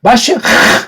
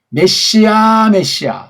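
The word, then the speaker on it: מָשִׁיחַ: 또는 메시아 또는 메시아 다 엉터리 발음들이에요. 마쉬, 요게 정확한 발음이에요.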